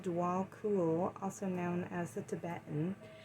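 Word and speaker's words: Djwal Khul: pronounced Dwal Kul, also known as the Tibetan, is a Tibetan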